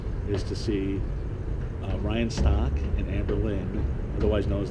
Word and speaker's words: Stock: not sure why cuz it rhymes with shock and the shock entertainment I don't know but it's real name rhyan stock did you ever think